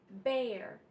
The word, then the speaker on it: bear: the air air and bear air and bear it's spelled the same e-a-r like the other two but it's pronounced air in Bear air and bear and